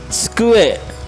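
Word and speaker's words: 机: Kemudian ada skue. Skue ya dibacanya TS jadi skue.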